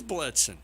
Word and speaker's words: Blitzen: It is Blitzen. Okay. All right. Rhymes with Blitz.